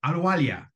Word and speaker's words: Ahluwalia: I've never pronounced your last name. Ahluwalia.